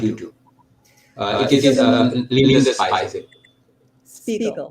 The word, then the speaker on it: Spiegel: Is it the right pronunciation? Spiegel? Spiegel.